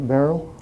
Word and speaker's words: Barl: You pronounce it barrel.